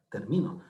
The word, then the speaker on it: termino: significado en la tercera la sílaba tónica se encuentra en el medio en mí terminó termino si termino mi trabajo